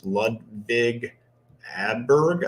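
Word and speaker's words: Ludvig Åberg: A guy that's getting a lot of love this week is Ludvig Adberg, I believe is how you pronounce his name.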